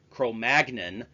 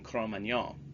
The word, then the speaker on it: Cro-Magnon: The more common English pronunciation with a hard G, Cro-Magnon, is just an anglicized version of the true French pronunciation, Cro-Magnon.